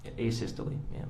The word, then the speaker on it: asystole: and have you explained to the jury uh a systole i think is called um am i pronouncing that right by the way a systole yes would you spell that for ladies and gentlemen of the jury